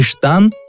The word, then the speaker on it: штан: кольцо на киргизском и штан дам вам значение штаны татарском и то же слово произносится как штан и штан штан является